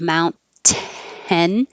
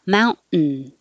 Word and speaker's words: mountain: your tongue goes up for the nt combination it's in the same place just hold it there instead of mount ten you're just not releasing it and holding it in the t position and making the noise mountain maintenance maintenance student